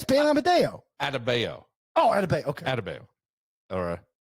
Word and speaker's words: Adebayo: It's just that I saw someone who, and we'll get into Bam Amadeo. I don't think that's how you say it. Amadeo. It's not. Wolfgang Bam Amadeus Mozart. Yeah, it's Bam Amadeo. Adebayo.